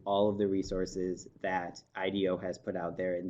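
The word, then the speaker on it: IDEO: we were working with I do I'm a design firm out of California and if you want to look that up it's actually I de oh but pronounced I do and they had adopted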